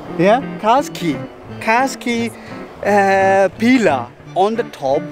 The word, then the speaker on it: Katskhi: It is called Katskhi. Yeah? Katskhi.